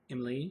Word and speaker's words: Emelie: describe my time watching i believe it's pronounced emily even less on how